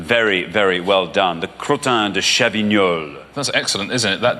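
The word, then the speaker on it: Crottin de Chavignol: 7,250 very very well done the cro chol that's excellent isn't it that jackpot is really going up higher and higher so how do you how do you pronounce it again it's actually pronounced crotin chol that's what it is yeah no it comes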